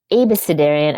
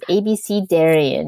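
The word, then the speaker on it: abecedarian: we had all these um conversations about it's abis cidarian I've been pronouncing it wrong all my life it's ABC Darion you're supposed to say yes I I looked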